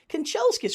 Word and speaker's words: Kanchelskis: Kanchelskis, for such a long name, is only 3.